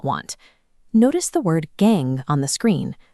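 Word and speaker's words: gangue: Notice the word gang on the screen, pronounced just like gang.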